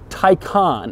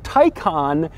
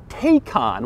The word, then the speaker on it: Taycan: how you say it Tyco on and not take on which is odd because it looks like it would be pronounced take on but Porsche assures me that it isn't it's also strange because